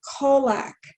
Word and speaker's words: Kolack: name is mr kolack did i pronounce that correctly darling perfectly perfectly it's like kojak but with an l with an l okay